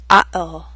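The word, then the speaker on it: uh-oh: exercise one group one we use the glottal stop in these three common expressions listen and repeat oh-oh this is an expression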